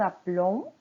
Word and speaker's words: appelons: Mais on dit nous appelons, vous appelez. Le son est fermé. Oui, le et que vient avant la lettre L, aux personnes nous et vous, il n'est pas prononcé. Nous appelons, vous appelez.